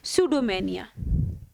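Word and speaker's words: pseudomania: इसको आप सूडोमेनिया भी कह सकते हो। पी साइलेंट रहेगा। प्रोनंसिएशन इसका होगा सूडोमेनिया।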